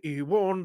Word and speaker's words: Ewan: Ewan, as in Ewan, the W is silent.